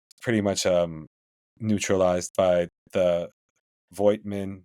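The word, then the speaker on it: Voigtmann: And their big man Milutinov was pretty much neutralized by the Voigtman. I guess you're supposed to pronounce that Footman or whatever.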